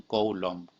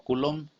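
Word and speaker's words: Coulomb: que fuera por bolsón coulón o cullum también se le pronuncia sí aunque suena medio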